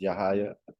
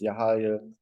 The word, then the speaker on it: Yahya: been that been rabbi now I've been Rabbi pronounce yahaya also known as yahaya The Negro the Negro who was a Portuguese